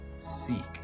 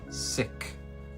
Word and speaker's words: Sikh: Playing hide and seek, right? It's sick, and it's not Sikhism, it's Sikhi.